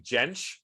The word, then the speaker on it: Jentsch: It has a J, but it's pronounced like a Y. Oh, have you been saying Jentsch?